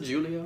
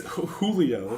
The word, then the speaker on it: Julio: man like dude I see that how you pronounce it Julia I've always say I I should ask this is that how you pronounce it clearly it's Julio Julio but I went to her with cheese